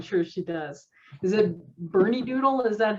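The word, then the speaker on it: Bernedoodle: Is it Bernie Doodle? Is that how you pronounce her breed?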